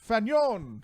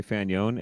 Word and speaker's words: Fanion: everybody we're here with adon fagnon no he don't fanian from go ship octavius previously and now of the ether how are you doing thank you garrick um i'm doing pretty good you know i'll take fan yeon or fanyon any day because the thing you know if you were french you'd say fanon and then the two rhymes so let's just run with the don't fanon is that